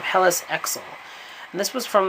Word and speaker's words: Helice: was sometimes known as Helles i think i'm pronouncing her name helis EXO and this was